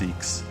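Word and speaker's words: Zieks: I'm so glad it actually is pronounced Zeeks. I was right.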